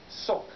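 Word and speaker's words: сок: they're going for is pronounced in russian sok but it's spelled like this juice i don't know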